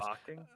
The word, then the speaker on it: balking: Don't pronounce the L. Anyways, Balking?